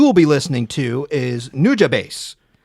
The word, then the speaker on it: Nujabes: Don't know how to pronounce his name. Okay. But the guy that you will be listening to is Nujabase.